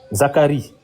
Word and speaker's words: Zacharie: En français, comment on le prononce en français? Zacharia. Zacharie. En français, oui, Zacharie. Oui, Zacharie en français. En En Zacharia. français, c'est Zacharie, en anglais, c'est Zacharia. Et en hébreu?